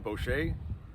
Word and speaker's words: Boschy: right, my name is Boschy. It's spelled.